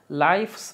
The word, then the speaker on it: lives: Aquí la f suena como si fuese una v. Live. Lives. Lives. No es lives. No, no es lives. Es lives. Lives. Lives. Como que soplando la F la conviertes en V.